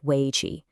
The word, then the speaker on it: Wei Qi: You pronounce it Wei Qi.